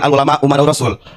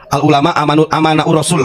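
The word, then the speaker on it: العلماء أمناء الرسل: Al ulama umanaur Rasul walaupun si Bahar Salah bacanya bukan Al ulama umanaur Rasul Al ulama aman Rasul Katanya Goblok itu bukan pintar bukan Aman umana saya benerin ya itu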